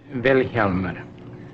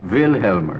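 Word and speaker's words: Vilhjálmur: Vilhjalmur. The accent's on the first syllable. Vilhjalmur.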